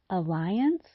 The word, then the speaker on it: alliance: Unfortunately, the spelling of the first vowel remains the same, but the pronunciation is different. On the other hand, the pronunciation of the second vowel remains the same, but the spelling changes.